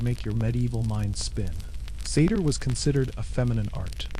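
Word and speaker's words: seiðr: Sometimes it relied on magic, specifically a mysterious practice called seder, pronounced seder, which was part sorcery, part spiritual therapy, and part my ex won't return my runstones.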